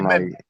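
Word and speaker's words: מם: Alors ça se prononce c'est même c'est même hein.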